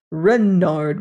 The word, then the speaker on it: Renard: Renard with accent on the Ren."